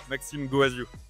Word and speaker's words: Maxime Goaziou: with uh with Maxim Maxim how can I pronunciate your name Max Maxim guazu Maxim guazu so Maxim is from this uh